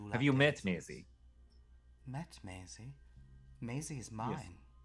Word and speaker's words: Maisie: It rhymes with Daisy. And I do love Have you met daisies. Maisie?